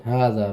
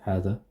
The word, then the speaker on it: هذا: So even though it's this, it's not هذا, it's spelled like this. هذا. It's spelled like this, but it's written like this. No, sorry. It's written like this and spelled like this, but it's pronounced like this. هذا. But they remove the alif.